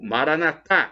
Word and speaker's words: Maranata: proverá Creia acredite a Maranata como dizem os nossos irmãos separaram os evangélicos protestantes ou Maranatha com a tônica na última sílaba como dizemos nós católicos porta porque